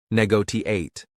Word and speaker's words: negotiate: Stress the second syllable negotiate cooperation stress the third syllable co rashin compromise stress the first syllable compromise.